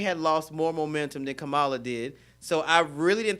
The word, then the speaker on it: Kamala: How we pronounce her name? Kamala. Kamala.